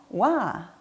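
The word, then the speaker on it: は: 3번 와. 그렇죠. 조사로 제시되고 있기 때문에 와라고 발음하고 는 이라고 해석이 되겠고요.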